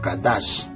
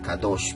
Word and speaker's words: Kadash: hebreo anciano, el hebreo Kadash. En el hebreo moderno se dice Kadosh, pero en el hebreo anciano Kadash.